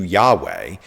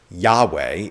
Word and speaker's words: Yahweh: jesus was doing but how is yhwh pronounced the word lord in hebrew is adenae when the hebrew vows of adenae are inserted into yahweh you get yahuwah which is oftentimes rendered as jehovah however yahweh is also another common rendering